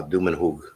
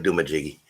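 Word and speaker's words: Dumanjug: uh cebu called uh dumenhug good job the way it's spelled it looks like douma jiggy and that's actually what i thought it was the first time i read it c-d-u-m-a-n-j-u-g to my home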